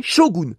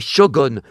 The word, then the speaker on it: Shogun: Ça ne s'est jamais prononcé goon.